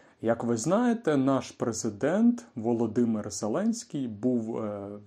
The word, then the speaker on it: Володимир: недавно чув і я подумав що варто розповісти як вимовляється принаймні. Це - Володимир, Володимир.